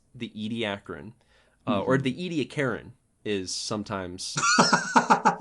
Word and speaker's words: Ediacaran: The Ediacarian is sometimes also used, but usually it's Ediacaran.